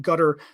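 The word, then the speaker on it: Qatar: might be a quarter I was taught to call it gutter the official pronunciation but q-a-t-a-r where they're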